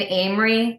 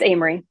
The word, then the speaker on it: Amery: for free speech in Amory Wisconsin is that how you say it Emery Emery it's Amery Amery Wisconsin that's the actual title